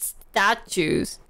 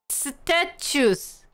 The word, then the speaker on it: statute: Securities regulation in the US is a mosaic of federal and state statutes. 뭐야 저거? 저거 발음 어떻게 해요? How do you pronounce that word? Statues.